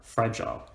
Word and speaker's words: fragile: Or the word fragile, we stress the fra, and we don't stress the gile, fragile.